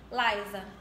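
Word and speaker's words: Lysa: modelo se chama Larissa se escreve l y s a Laisa E aí o l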